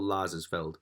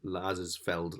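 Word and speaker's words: Lazarsfeld: is a theory by paul lazar's feld which is an amazing name it's basically like laser field but with an s in between so lazar's felled lasers field however you want to pronounce it right but two step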